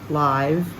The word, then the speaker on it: live: me hear verse 51 we're going to have a short I live this time it's not live it's live the same sound of the I as in him give and live are in that verse verse 54 drink I